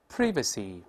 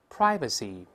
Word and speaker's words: privacy: 再往后走，watchdog，watchdog，rashly，rashly，enclosure。Enclosure, monk, monk, privacy, privacy，这个词还有另外